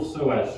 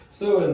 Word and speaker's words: psoas: So psoas is spelled with a P, P-S. So push the knee up. The P is silent like pterodactyl.